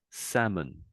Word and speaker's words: salmon: So, that's the French way, let's say, but the English way would be something like salmon. Salmon. Tam. You're still saying the French way, what I would suggest. So Sam, that's the French way. Samour, but it's salmon. Salmon.